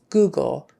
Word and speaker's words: Google: Google sheet Google Google Google in that case it's an ooh not an uh sometimes o o is an uh but no it's Google you probably know Google